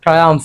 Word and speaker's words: triumph: সো TRIUMPH, আমরা লাস্টে একটা ফ উচ্চারণ করব, আর ট্রায়াম্ফ এরকম হবে, যার বাংলা অর্থ হচ্ছে সাফল্য লাভ করা।